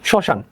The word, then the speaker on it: শ্মশান: কোনো উচ্চারণ হবে না, তাহলে শব্দের শুরুতে মফলার কোনো উচ্চারণ হয় না। আচ্ছা, কিরকম? শ্মশান, এখানে শ্মশান দেখতে পাচ্ছ, তালবস্যর সাথে মফলা আছে, তার কোনো উচ্চারণ হবে না।